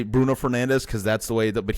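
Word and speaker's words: Fernandes: I say Bruno Fernandez because that's the way But he the way that they pronounce it in Portuguese is very funny. It's Bruno Fernanch. It's like Fernanch.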